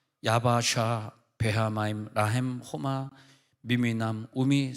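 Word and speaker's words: יַבָּשָׁה: 얍바사. 근데 육지로 걸어갔다는 얍바사, 그러니까 이제 히브리어 발음으로 하면 하얌, 바, 야바샤, 베하마임, 라햄, 호마, 미미남, 우미, 세모람 이렇게 적혀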